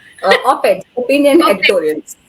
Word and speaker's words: op-ed: How do you pronounce? Op-ed, opinion Op-ed.